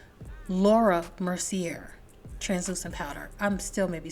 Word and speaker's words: Mercier: up with using my translucent powder by L'Oreal Mercy Lake wait a minute I'm thinking of pronouncing her name wrong it's Laura Mercier translucent powder I'm still maybe saying it wrong